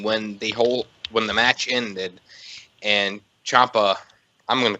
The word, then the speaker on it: Ciampa: It's Ciampa. Just like Tampa.